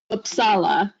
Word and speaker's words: Uppsala: she's freshly back from a concert conference in uppsala Sweden did I pronounce that correctly yeah uppsala everything has a different emphasis Yeah a different